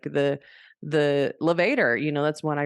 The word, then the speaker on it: levator: always remember I'm sure the teacher that thought it was levator like Darth Vader so levator like elevator l-e-v-a-t-o-r levatus Gap